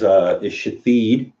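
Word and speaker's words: Shithead: This here is Shathid. It is spelled, now I pronounce it Shathid, but it is spelled S-H-I-T-H-E-A-D.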